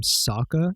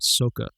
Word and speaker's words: Sokka: The first thing I noticed was that they call him Sokka and not Soka, which is how you pronounce it in Japanese.